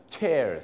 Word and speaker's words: chairs: นั่น เอง นะ ครับ ถ้า เป็น เก้าอี้ จะ ออก เสียง CH เสียง เชอ chairs นะ ครับ chairs แต่ ถ้า SH มัน จะ เป็น เสียง shares นั่น เอง ครับ ดัง